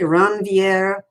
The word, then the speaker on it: Ranvier: That gap is referred to as the node of Ranvier. Now, the Europeans pronounce it a little differently, Ranvier, because it's a French word.